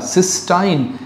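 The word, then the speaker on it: cystine: गए क्या बना दिया सिस्टाइन सी वाई एस टी आई एन E spelling पे ध्यान दीजिएगा सिस्टाइन contains disulphide bond सिस्टीन नहीं हालांकि अमानो एसिड का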